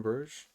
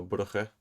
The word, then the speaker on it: Bruges: I went and stayed, I think just 1, maybe 2 nights in Bruges, which is Bruges or Brugge, depending on how you pronounce it and how you look.